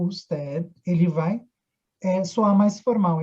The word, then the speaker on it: usted: Esse D não é pronunciado, tá? Ó, usted. Tá? Então aqui, ó, tira esse é como se tirasse o D na hora da pronúncia, usted.